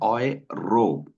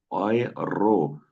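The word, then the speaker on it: Euro: इसकी कहीं पे आप इसकी प्रोनाउंसिएशन सुन रहे होंगे ओय रो ओय रो ठीक है जो साउथ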